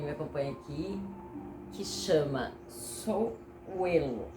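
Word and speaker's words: Sowilo: nome, para quem me acompanha aqui, que chama Souelo, é a pronúncia.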